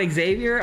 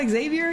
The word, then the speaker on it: Xavier: Uh she said you would say my name with an X instead of a a J uh sound, but all good.